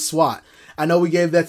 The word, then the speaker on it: Sweat: telling you montes sweat his name is no longer montage sweat the e is silent like in like the g is silent lasagna the e is silent and sweat because he is montez swat i know we gave